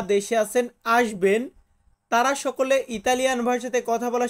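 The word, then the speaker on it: succo: juice বা শরবত এটাকে আমরা ইতালিয়ান ভাষাতে বলবো সুক্ো কি বলবো আমার সাথে বলুন তো সুক্ষ হ্যাঁ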